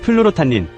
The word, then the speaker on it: 플로로타닌: 처음 들으면 약 이름 같고 두 번째 들으면 외국 박사 이름 같고 세 번째 들으면 발음 시험 보는 것 같습니다. 플루로타 님 어떤 분들은 플루 모여하십니다.